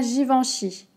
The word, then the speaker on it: Givenchy: des garçons comme des garçons ensuite on à givenchy j van chi j y vend en sait